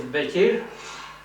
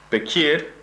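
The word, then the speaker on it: Beqir: Grandfather, his name is Bekir. Bekir. Bekir. B-E-Q. Yeah. I-R. That's how you spell it.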